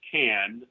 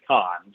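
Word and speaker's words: Cannes: Khan uh I know a lot of people pronounce it canned the French pronounce it Khan so we uh we went to Khan of course on the French Riviera now my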